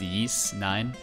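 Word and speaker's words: Ys IX: Like, I'm playing through YS9, pronounced Yeast9.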